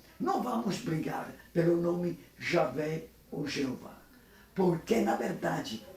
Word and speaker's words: Javé: Mas a última palavra aqui, Ângelo, Javé. Javé. Javé, nem Jeová, é o nome, é a pronúncia correta.